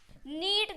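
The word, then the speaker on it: knead: यहां पर यानी कि के जो है गाइस वो साइलेंट है क्या है के सा ट है हम एन से डायरेक्ट इस वर्ड को प्रोनाउंस कर रहे हैं तो क्या हो जाएगा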